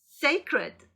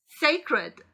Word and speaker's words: sacred: sacred, sacred. sacred, sacred, sacred.